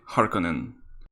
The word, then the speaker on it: Харконнен: known by my nickname on vimeo or pronounced correctly harkonnen or just that cube